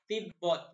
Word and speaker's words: তিব্বত: তিব্বত উচ্চারণ হবে তিব্বত।